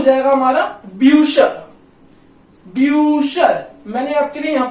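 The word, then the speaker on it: Bücher: ब्यू ब्यूशर, ब्यूशर, ब्यूशर का मतलब क्या होता है बुक्स, राइट, बुक्स।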